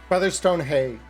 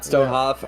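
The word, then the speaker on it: Featherstonehaugh: How is that pronounced? Featherstone Hay. Featherstone Hay. All right. Not Stonehoff.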